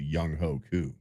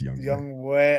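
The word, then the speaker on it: Younghoe Koo: It's definitely spelled Young Ho Koo. Okay. But, in Korean pronunciation is Young Wei.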